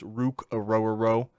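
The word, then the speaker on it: Ruke Orhorhoro: Definitely pronounced it wrong, but it's Rukarororo.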